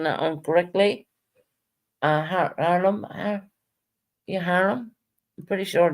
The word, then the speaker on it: Harlem: And excuse my accent if I'm pronouncing that incorrectly. Harlem, yeah, Harlem.